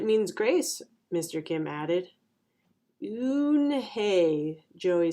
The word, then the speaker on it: Unhei: turned to joey she nodded slowly yes it's pronounced unhei and it means grace mr kim added oon hey joey said slowly and this time perfectly it